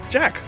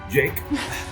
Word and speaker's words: Jack: Jack, what are you? It is pronounced Jake.